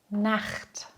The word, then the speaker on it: Nacht: Nach den Vokalen A, O, U und AU spricht man CH hart aus. Hör dir diese Beispiele an. Nacht, Tochter, Buch, Bauch.